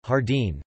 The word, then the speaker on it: jardín: penult, joven, virgin, metine, the great majority of nouns and adjectives ending with n are stressed on their last syllable, capitan, almacen, jardín, corazón.